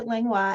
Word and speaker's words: Langlois: It's rare to have my name pronounced correctly. It's French, French Canadian actually. So my name is Langlois, and I, with Shannon